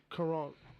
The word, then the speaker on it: Caron: Caron. Like that. It's spelled like that. Yeah. Gotcha. Not Karen with a K.